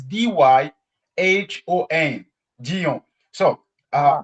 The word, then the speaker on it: Dyhon: So Ah, with Brazilian, the way they pronounce is like dying. Dying for most of them. And others say Dion. Dyhon. You say Dyhon. And when I listen Dion. Dyhon, I say, but this is not me.